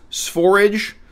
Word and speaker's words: Sv4rige: This is my new channel doing product reviews, Sphorage. Rhymes with forage.